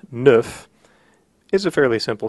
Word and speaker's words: neuf: So instead of nefarious, leave off the end of the word and you will have neuf.